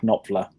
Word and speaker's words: Knopfler: The answer is Mark Knopfler. Pronounced right?